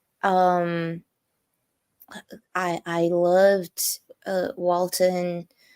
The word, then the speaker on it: Walton: I I loved uh Walton everybody keeps saying Walter giggin Walter even I am Ash to say I get into that kind of thing where can't pronounce his name right Walton Goin walon gogin